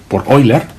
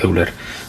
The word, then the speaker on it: Euler: sido durante mucho tiempo Euler, hasta que, bueno, pues alguien me dijo que este señor era alemán. Bueno, yo ya sabía que era alemán, pero que en alemán no se pronuncia Euler, sino que se pronuncia